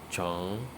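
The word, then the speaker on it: 虫: Worm in Chinese means chong. Chong. Okay, chong can stand for anything that is long. So chong, chong, chong. You can see rising tone.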